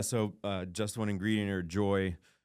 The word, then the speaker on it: Joi: So Just One Ingredient, or Joy, it's spelled Joi.